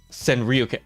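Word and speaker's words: Sanrio: you said it right it's a s uh San Rio oh I forgot about San Rio I saw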